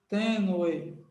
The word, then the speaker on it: tênue: tênue separe assim ó tênue tênue essa palavra tênue Qual é a sílaba forte dela tênue tênue a sílaba forte é o tem tênue teno Então ela